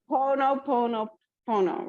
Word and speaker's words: Ho'oponopono: Ho'oponopono, right?